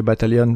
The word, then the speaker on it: battalion: c'est B-A-T-A-I-2-L-I-O-N, 2-L-O-N pardon, là c'est battalion avec deux T et un seul L, battalion, donc j'ai l'habitude de franciser le bataillon et de prononcer le L, qui n'y en a qu'un seul.